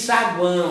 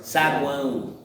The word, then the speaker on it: saguão: Você não diz saguão, ó. Você diz saguão. Não é isso? É a pronúncia.